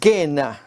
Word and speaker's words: Gehenna: La palabra que consideraremos a continuación es gena. Esta es la forma griega de pronunciarlo al valle de Ginom,